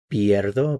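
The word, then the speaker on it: pierdo: So we have Piero. Be sure to get the pronunciation right. The IE is pier. Notice the stress on the end here. So notice how the the change from the e to the iie affects the pronunciation.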